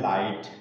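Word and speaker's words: light: में साइलेंट राहत है देखिए कुछ एग्जांपल जैसे क्या लिखा है लाइट लाइट में यहां पर देखें क्या रहा है यहां पर ग साथ में ए रहा है और ग के पहले क्या है यहां पर आई आई क्या है बबल है तो ये जी हा क्या हो गया साइलेंट हो गया इसको नहीं रीड किया जाएगा नहीं पढ़ा जाएगा तो क्या हो जाएगा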